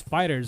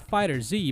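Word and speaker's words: FighterZ: to Dragon Ball fighters yes we're pronouncing it as fighters and not fighters Z because bond I Namco confirmed the correct pronunciation of the game's title this 2.5 D anime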